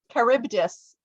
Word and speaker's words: Charybdis: Charybdis.